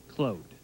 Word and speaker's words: Claude: young beas you say as Jerry punch says Cloe clo he prefers clo he's French Canadian and